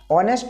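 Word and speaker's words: honest: दीर्घ Indian okay ऑनेस्ट अब देखिए ऑनेस्ट में हमें नेस्ट नहीं बोलना है ऑनेस्ट में क्या होता है ऑनेस्ट अ की उच्चारण आता है ऑनेस्ट सो यहां हो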